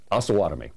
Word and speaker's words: Osawatomie: Osawatomie. Osawatomie. Just as I was saying it earlier. Just as soon as I say that, somebody's going to call in from Osawatomie and say it's Osawatomie.